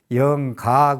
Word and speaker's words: 영가: 될 수 있는 영, 그렇기 때문에 영각이라고 그러는데 발음상 영가 그럽니다.